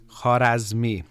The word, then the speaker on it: Khwarazmi: It's actually the Persian mathematician Khwarazmi. Thank you. Amir helped me. I practiced the pronunciation a few times.